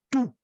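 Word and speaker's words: τοῦ: parecido no genitivo é tu porque o omicron e o Up se pronunciam como fosse u então tu no genitivo feminino tes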